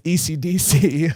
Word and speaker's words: Esidisi: Because at least later on when we meet the other Pillarmen, because like there's one that's spelled like ESIDISI and it's ECDC. Oh, yeah. Which is like ACDC.